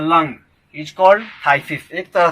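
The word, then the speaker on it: phthisis: Next word है थाइसिस, इसका pronunciation थाइसिस होगा, PHTHSIS। यहाँ पर हम देखते हैं कि PH साइलेंट है, थाइसिस।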